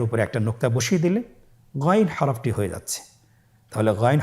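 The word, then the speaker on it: غين: চেষ্টা করুন আবার বলুন গাইন গাইনের মাখরাজ কোন জায়গায় আপনারা স্ক্রিনে দেখতে পাচ্ছেন ছবিতে দেখা যাচ্ছেন হারাফটি উচ্চারিত হয় কন্ঠনালীর শেষ ভাগ হতে এখান থেকে উচ্চারণ করুন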